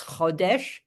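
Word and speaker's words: חודש: They have the exact same otiot, the exact same letters, chodesh and chadash, right? And they only differ in their pronunciation.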